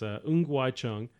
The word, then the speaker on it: Ng Wai Chung: So I'm going to pronounce the name the right way. So it's Ng Wai Chung.